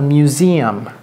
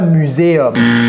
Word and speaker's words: museum: Ne dites pas muséum. Ne dites pas muséum. Ce n'est pas muséum. Okay, c'est comme music. Museum.